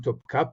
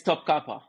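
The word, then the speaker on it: Topkapı: in first of all I've been saying toi but is it what's the correct pronunciation in Turkish here it's it's it's topa topa TOA okay topa all right you know what Turks Turks are very kind that they just they just there's so much yeah there's so of Grace there when you say Top Copy okay so if there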